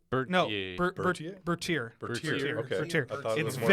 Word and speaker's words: Bertier: Jerry Bartier? No, Bertier? Bertier. Bertier.